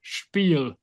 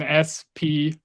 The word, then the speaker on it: Spiel: it's getting written Spiel, and it gets pronounced with sch, so basically sh instead of spiel. And many Right. people say spiel.